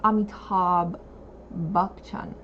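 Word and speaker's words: Amitabh Bachchan: I make that jokes this nishta says the pronunciation is Amitabh bukchon mr.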